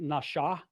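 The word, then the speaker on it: נשא: When it's over the right side, it's pronounced more like nasha. It's pronounced with a sh sound. When the dot is over the left, it's with a s sound.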